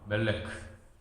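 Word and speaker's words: מלך: 일이라는 단어는 발음을 어떻게 하냐면 멜라카. 왕은 멜레크. 그러니까 뭐 듣기에 되게 비슷하잖아요, 그죠?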